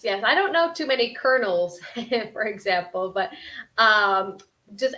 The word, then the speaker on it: colonel: of our students here this is a very difficult one where it'd be pronounced kernel kernel I don't know how you would pronounce it differently or the same no the exact same colonel colonel even though like